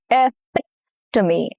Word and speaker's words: epitome: Here the stress falls on the second syllable, which is epitome. Epitome. Okay. The second syllable is the important syllable, the stress syllable.